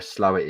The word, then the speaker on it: Slaithwaite: Mark Jones says no one would know where Slowett is down south. I've no idea where Slowett is. Slowett is the next village for me. Slowett. Oh right, Slowett. Slowett is actually it's spelt Slaithwaite. Slaithwaite.